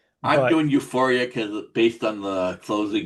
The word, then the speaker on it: UFOria: No, but and also how how are we all pronouncing this? I my gut feeling is to say Euphoria. I'm doing Euphoria because based on the closing credit song.